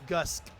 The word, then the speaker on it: GSKE: It is Gust KE. The name GSKE is short for the name, so it's Gusk. Gus.